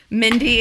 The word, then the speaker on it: Mindy: Mindy and Indy? Yes, Mindy and Indy. Finally a city that rhymes with my name.